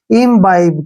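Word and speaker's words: imbibe: काफी मिस्टेक करते हैं हमने इसको पढ़ना कैसे है आई से क्या हो गया ई ठीक है ना और एम का उच्चारण मैं करेंगे इम हो गया अब यहां पे बी आई का उच्चारण हम बाई करेंगे क्या करेंगे बाई और बी का उच्चारण ब करेंगे ई का उच्चारण हम नहीं करते हैं इम बाइब क्या पढ़ेंगे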